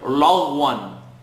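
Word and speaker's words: لغوا: A commonly mispronounced word, lagwan. Lagwan. It's not important to make dramatic facial movements, but it's important to have each letter receiving its right.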